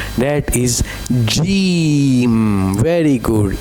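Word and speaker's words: جيم: So, we say jeem. Okay? Jeem. J j sound like jeem.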